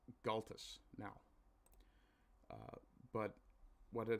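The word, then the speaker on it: Gaultois: to be fair uh while this may be pronounced in French in Newfoundland we bastardize the hell out of things because well the English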